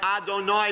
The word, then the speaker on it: Adonai: Instead of saying that four-letter name of God, the tradition is to pronounce it as Adonai, begins with an Aleph, the Master.